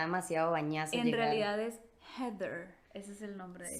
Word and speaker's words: Heather: risa porque yo yo Por ejemplo yo lo pronuncio como heeder porque todo el mundo le dice heeder entonces